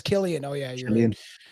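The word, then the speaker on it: Cillian: Yeah, Cecilian Murphy. Yeah. Is that how you say his name? Oh, it's Killian.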